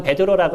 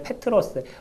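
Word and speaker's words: Πέτρος: 우리는 베드로라고 읽는데 페트로스.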